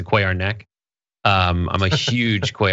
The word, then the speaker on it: Cuellar: a quay archwayo um as in spanish it's translated it's not a play our head it's a quai our neck um i'm a huge